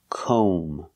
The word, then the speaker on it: comb: calm we have to use the long o sound like know and go we pronounce this word comb oh make the long o sound comb and remember the B is silent don't pronounce the b comb so comb is